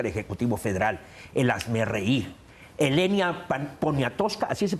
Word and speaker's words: Elena Poniatowska: Elena Poniatowska, así se pronuncia. Elena Poniatowska. Poniatowska.